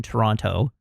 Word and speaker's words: Toronto: And you can tell that nobody in the movie is from Toronto because they all overpronounce the second T.